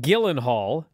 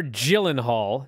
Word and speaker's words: Gyllenhaal: know what's funny what jake gyllenhaal or gyllenhaal depending on how you want to pronounce it uh you know